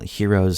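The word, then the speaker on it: Hearos: called the extreme Heroes spell heroes spelled like h e a r Heroes it's kind of like a play on words um and pelor x5a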